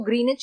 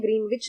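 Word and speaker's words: Greenwich: इसको ग्रीनिच कहते हैं, ग्रीनविच नहीं कहते हैं। इसमें W जो होता है वो साइलेंट होता है, ठीक है।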